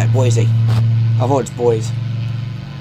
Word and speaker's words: Boise: feel good boise that's how you say it boise avoids boys let's go boise departure november